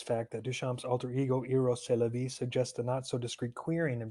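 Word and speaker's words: Rrose Sélavy: Eros c'est la vie, a French name, phonetically sounds like Eros c'est la vie, or in English, Eros, that is life.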